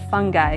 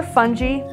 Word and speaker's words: FUNgi: our new toy collection the fungi collection or funy doesn't matter how you say it either way you do it the emphasis is on fun there are three Toys